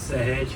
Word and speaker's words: Sahej: you to pronounce it, you know how living fence is pronounced, hedge? So you just add S in front of that and then it becomes one name.